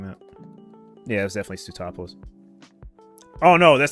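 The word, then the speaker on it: Sootopolis: I always had a trouble pronouncing that. Yeah, it was definitely Stuttopolis.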